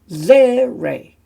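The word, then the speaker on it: tsere: Then we have zere, which is a longer, like E sound, ze.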